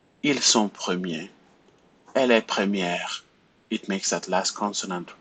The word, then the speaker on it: première: And you have that accent, it's called the accent grave, and we have it there because the pronunciation of E changes. Premier, première, right? It just goes low.